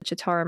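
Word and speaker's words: Citarum: okay so so first let's start with the chittaram river uh CI t a r u m it's pronounced the chattar river technically it's the tarum river if you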